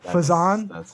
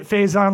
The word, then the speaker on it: Faison: You mean four time Emmy awardwinning Serena Fison? Did I say it right now? Fe. Yes. I call it Faze I say Faison like Faison on Love.